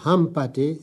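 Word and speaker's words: Hampâté: chose oui le mot Hampaté si on ne le prononce pas le N perce son sens Ham c'est un des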